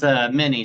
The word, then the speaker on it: Mean: Is it Mean or Meany? How do you pronounce it, sir? It's Minnie, sir.